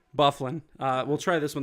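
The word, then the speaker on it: Dustin Byfuglien: uh Dustin Buffalo okay the g is silent bufflin uh we'll try this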